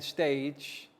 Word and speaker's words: stage: the stage once again stage soft g pronounced as j and then finally giant